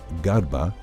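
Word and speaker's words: ܓܪܒܐ: Pronounced as Garba, the word is leper, whereas the Garaba, same letters, means jar maker.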